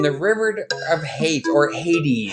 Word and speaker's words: Hades: river of hate or Hades Hades we would say Haiti Haiti oh they so the English would say Hades so Canadian they say Hades a we would hate